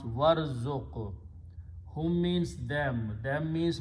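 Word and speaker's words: وارزق: Waw means and, so you pronounce warzuq.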